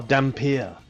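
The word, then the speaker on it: Dhampir: a silent potent River you are dampier that's the official pronunciation there um a person whose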